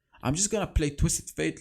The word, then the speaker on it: Twisted Fate: million comments telling me it's not twisted faith it's twisted fate you know with it